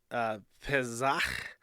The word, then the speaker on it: Pesach: Jewish holiday of Passover, which I believe in Hebrew is pronounced Pesach.